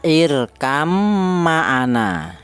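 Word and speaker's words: اركب معنا: Cara bacanya irkam ma'ana ya. Irkam ma'ana, tibanya tadi dibaca diganti huruf mim, diidghamkan ke huruf mim jadi irkam ma'ana.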